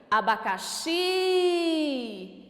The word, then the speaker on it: abacaxi: Se eu chamar essa palavra, olha como que fica. Abacaxi. Qual é a sílaba tônica? O xi.